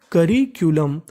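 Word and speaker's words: curriculum: आखिरी में लिखा है यू एम। यू एम का उच्चारण हम लोग करते हैं अम। तो मीनिंग बनी करिकुलम।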